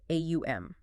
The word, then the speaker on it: Om: Let's start with the most famous one, Om. Everyone knows it, but very few pronounce it correctly or understand the actual physics behind it. Sukhdev breaks it down as AUM.